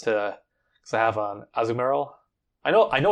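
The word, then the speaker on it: Azumarill: water uh shards to because I have an azumero I know I know it's actually pronounced azumerel but I refuse to pronounce it like that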